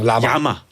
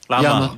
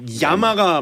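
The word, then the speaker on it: llama: 라마. 야마. 야마가 맞는 발음이에요.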